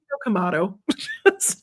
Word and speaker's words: Kamado: And then Kamado. Pretty much. Right, Kamado. Yep. And then it rhymes with the fancy tomato.